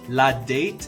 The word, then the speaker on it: la date: here's my pronunciation tips pronounce like one word resist the urge to pronounce it like english la date is wrong in french the letter a makes the sound ah ladat finally do dre is